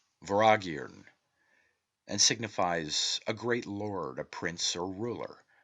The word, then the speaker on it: Vortigern: The T is silent and M is inflected, as is common in the Celtic, and is given the sound of V. The word is phonetically pronounced Voragirn and signifies a great lord, a prince, or ruler.